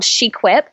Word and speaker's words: SheQuip: Shequip, like equip, but for girls.